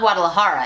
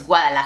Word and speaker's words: Guadalajara: (English pronunciation) "last month," It's not Guadalajara (English pronunciation), it's Guadalajara (Spanish pronunciation), so I'd say the more specific, and the more obscure a name is the more important it is for you to pronounce it in its original language.